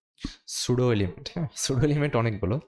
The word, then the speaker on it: pseudo: তো সুডো element সম্পর্কে যদি আরও জানতে চান তাহলে সার্চ দিয়ে ফেলবেন পি সুডো এলিমেন্ট আর কি। হ্যাঁ, পিটা উচ্চারণ হয় না, সুডো এলিমেন্ট।